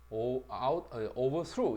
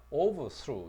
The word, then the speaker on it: overthrow: 동사는 강사를 뒤에다 던져놓자 overthrow 이렇게 되고, 명사일 때는 강사를 앞에다 던지자 overthrow 이렇게.